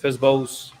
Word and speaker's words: FSBO: fsbos list these are festivals that's how you pronounce it fizzbos and it's for for sale by owners right